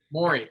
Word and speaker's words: Morey: It's Morey. I forget I don't know how to say his name. Daryl Morey. Morey. Thank you.